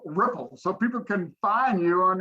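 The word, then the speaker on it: Rypplzz: So the ripples is spelled uniquely uh it's R Y PL ZZ.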